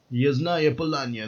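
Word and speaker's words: Yasnaya Polyana: Yasnaya Polanya, that's how you say it properly.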